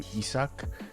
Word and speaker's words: Issak: about the title while in Japanese it's the pronunciation probably closest to isok some of the characters